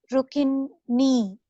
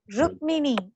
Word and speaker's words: Rukmini: Read letter by letter. What is the first letter in the word? Ru, Ru. It is ru. ki, It's not ru, key. ki. It is not key. Is it key? Kakara plus makara plus e. Oh, What is that? rum, Rakara. Rukmini.